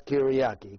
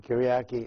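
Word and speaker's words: Κυριακή: in the choice of the lord and it's pronounced in in in the word that is derived from greek language as kiriyaki kiriyaki which sunday so for sunday then you can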